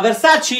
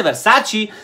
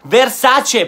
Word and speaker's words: Versace: la hay se llama de sachi y yo veo de sachino se dice versace se dice versace porque es una e no es verdad si